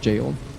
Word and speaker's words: Gaol: I was pronouncing it Gaol, but I guess it is just jail.